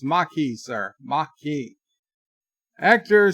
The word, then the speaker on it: Maquis: Syfy's is Berta pray remember to pronounce it the Maki Maki yes and number one